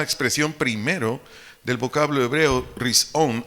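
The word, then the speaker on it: ראשון: primero del vocablo hebreo rison r i s o h n hebreo rison acento en la o su definición es principio comienzo o inicio o antes de cualquier cosa repito primero risón principio comienzo o inicio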